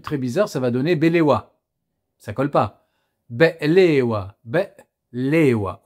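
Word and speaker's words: بقلاوة: vous les adorez tous, les fameux baklawa, comme on dit à la française, mais qui se prononcent en réalité be'lewa, Il y a comme une coupure qui est gutturale aussi, et qui se fait au niveau de la gorge.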